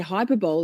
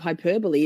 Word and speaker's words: hyperbole: Every The number of times I say hyperbol instead of hyperbole is not even funny.